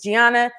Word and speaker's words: Gianna: your amazing daughter Gianna I was saying her name wrong it's Gianna and you feels like we